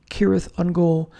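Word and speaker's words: Cirith Ungol: all right next is kth unle although tolken pronounces it kirth unol no band sounds like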